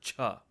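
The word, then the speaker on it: छ: breath coming out so compare Jah and Cha to give a good example on how to properly pronounce this letter use the word staunch heart staunch art the CH and staunch and the H and heart if you combine those two sounds together you'll get the accurate pronunciation staunch heart cha-cha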